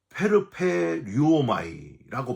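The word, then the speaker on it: περπερεύομαι: 자랑하지 아니하며 교만하지 아니하며 여러분 자랑은요 헬라어로 페르페류오마이라고 발음을 하는데 허풍선을 의미를 해요.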